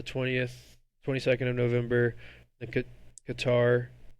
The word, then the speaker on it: Qatar: Then Qatar or Kater I think is how they say it the 30th of November